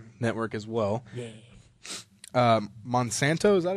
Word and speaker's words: Monsanto: Um, Monsanto, is that how you pronounce that? Yeah. Monsanto.